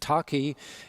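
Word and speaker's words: Takhi: Is it correct pronunciation? Yeah, Taki.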